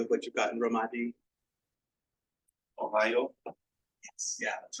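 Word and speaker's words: おはよう: Ohio? Yes, yeah, that's right. So it's Ohio, like the state of Ohio. It's very similar. And so for the Romaji, it's Ohio, and the O there with the line.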